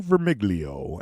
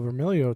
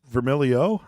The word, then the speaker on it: Vermiglio: out Tom's last name well vermilio too I mean you got to just kind of hide the G oh oh so I said it wrong it's vermilio oh see man should